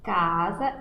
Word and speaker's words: casa: Nós falamos casa, escrevemos casa com S, só que na hora que vamos pronunciar a palavra, o som sai com som de Z.